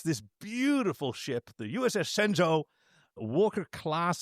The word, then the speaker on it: Shenzhou: It's It's more Shenzhou. Shenzhou. Like, like an S, like the H is breath.